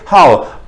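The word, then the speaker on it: 号: अब देखिए, अगर थर्ड टोन थी तो हम कहते हाउ, अब ये क्योंकि फॉलोइंग टोन है बिल्कुल फोर्थ टोन है, इसे हम प्रोनाउंस करेंगे हाउ।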